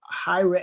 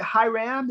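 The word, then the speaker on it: Hiram: so i got uh hi ra how did i say it hi ram is that how you say your name yes okay thank you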